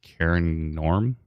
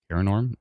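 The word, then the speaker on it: Cairngorm: g o r m my my brain just immediately went to Kon but it's not it's kin Norm korm uh north of Springfield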